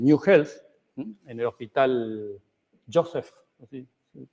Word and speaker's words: Joseph: la implementación del New Health en el hospital Joseph, así se pronuncia, Lister, de la ciudad de Seguí en